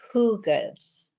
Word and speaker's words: Hygge: I also wanted to share that in Denmark, they took a Norwegian word for wellness, which is it's Hygge, but it's pronounced Hugans. Hugans, I think is right.